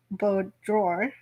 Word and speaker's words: boudoir: big, strong arms and carried her to the boudoir, where presumably Kirk had his way with her. Or Boudoir. actually, boudoir. I know I There you go.